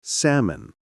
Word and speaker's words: salmon: Okay, we learned that many English words have silent letters like debt, island, and salmon, right? No B, no S, and no L.